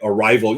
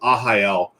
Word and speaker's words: Arraial: I always want to say Arrival. Yeah, see, and that's the thing. It does look like Arrival or Arraial, but Arraial.